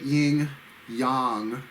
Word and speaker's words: Yin Yang: Number 8, Yin Yang. That's the correct pronunciation.